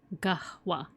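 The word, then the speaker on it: قهوة: You pronounce the H. Gwa. Gwa Gahwa atmon does seem confusing.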